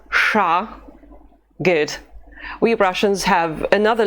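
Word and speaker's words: ш: We pronounce it sh, and the letter is sha.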